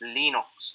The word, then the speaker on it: Linux: Linux is pronounced Linux.